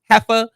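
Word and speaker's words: Jea: gonna call her okay because her name is pronounced hea but it's spelled j EA but when I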